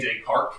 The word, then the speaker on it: Descartes: So his name was René Descartes, which kind of actually means René of Carte. And of course, we don't pronounce the ES on the end because, French pronunciation and all that.